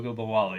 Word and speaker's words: Ogunbowale: Um, and so that's why I have however you pronounce that name. Try it. Ogunbowale.